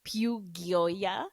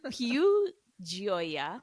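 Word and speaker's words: Più Gioia: I said Piu Gioia, but it is Piu Gioia, which I think means pure joy, if I'm not mistaken.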